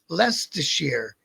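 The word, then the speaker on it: Leicester: All I know is that that the the name on the back of their jacket said Le Lester, and it's spelled all up, but you pronounce it lest.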